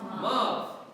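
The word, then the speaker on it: ⲙⲁⲩ: When you see this combined with an alpha, what did we say it's going to be pronounced as? A V. Pronounce this for me, this word. Mav means mother.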